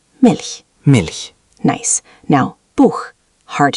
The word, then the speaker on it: Milch: Try Milch with that soft, airy sound. Milch.